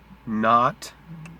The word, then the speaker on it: knot: And then you have knit, knot, with a silent K, link, gnarled, gnaw, gnash, accounting for the odd spelling.